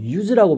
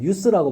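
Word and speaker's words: use: 동사로 썼을 때는 유즈라고 발음해. 유즈 알겠니? 근데 명사로 할 때는 유스라고 발음해.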